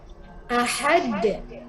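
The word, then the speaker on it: أَحَد: Ujungnya di sini ini adalah huruf qalqalah. Sehingga huruf qalqalah itu dipantulkan. Ahad, ahad. Qul huwallahu ahad. Bukan qul huwallahu ahad. Ahad. Jadi pantulkan ya, ahad.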